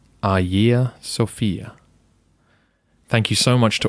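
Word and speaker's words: Αγία Σοφία: like it should be said hajiya sophia but we lack the soft g sound which you would find in greek and we use the letter h which they do not in modern greek the pronunciation should be a year sophia thank you so much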